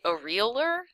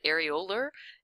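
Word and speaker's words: areolar: it in your head did you say a realer a realer tissue because if you did you were right if you said arola no sorry try again I can't even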